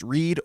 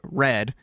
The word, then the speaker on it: read: So yeah, R-E-A-D can be pronounced reed or red, and L-E-A-D can be pronounced lead or lead.